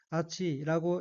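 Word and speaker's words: 厚い: 첫째 줄 맨 오른쪽의 어휘는 한자가 한국어로 두톨 후자가 들어있고 일본어로는 아치라고 읽으며 두껍다라는 뜻의 형용사이며 반의어는 우스이, 얇다입니다.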